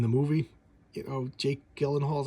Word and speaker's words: Gyllenhaal: You know, Jake Gyllenhaal, is how you say his name.